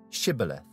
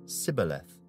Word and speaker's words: Shibboleth: If he said, "No," then they would say to him, "Then say, Shibboleth." And he would say, "Sibboleth," for he could not pronounce it right.